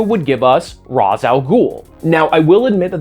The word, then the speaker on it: Ra's al Ghul: So for me personally, yeah, I am going to stick with Razz al Ghul, the pronunciation that's the closest to both the original Arabic and how Neil Adams and Julius Schwartz have said it, which again is 2